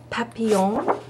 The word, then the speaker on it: papillon: Okay, so this one is called Papillon. Papillon.